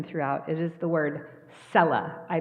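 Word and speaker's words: Selah: it is the word Cella I mispronounced it last week it is Cella the the uh emphasis is on the first syllable and we don't know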